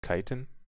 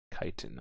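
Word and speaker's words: chiton: it up real quick oh kiten it's like kiten okay got it I thought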